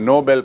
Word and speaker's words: Nobel: उस पुरस्कार में मिलता है, उसे कहते हैं नोबेल पुरस्कार, जो एक व्यक्ति के नाम से है, सर अल्फ्रेड नोबेल, और उसकी स्पेलिंग है NOBEL।